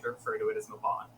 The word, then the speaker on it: Mabon: and I was like, "How do you pronounce this like ridiculously Welsh name?" And he told me, and it's Mabon.